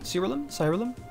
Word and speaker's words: Siralim: Today we're taking a look at an RPG that goes by the name of Siralim, I believe is how you pronounce it. Siralim.